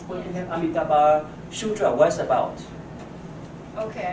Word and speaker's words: Amitabha: Amitabha.